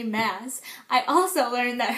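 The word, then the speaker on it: Maas: Roses by Sarah J Mass I also learned that her last name is pronounced mass and not M so anyway um yeah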